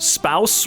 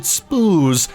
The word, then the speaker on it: spouse: Wait, spouse rhymes with house? I always pronounced it spoos in my head.